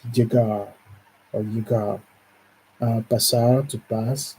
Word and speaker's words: llegar: In the Spanish, when there are, it's almost like a ja, ja. It's a heavy. It's llegar or llegar.